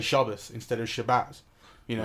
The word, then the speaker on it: Shabbat: of Shabbat you know Shabbat is kind of the way that you would read it off a piece of paper but if you're if you're Jewish then you kind of you learn to pronounce it Shabbos that's where everyone says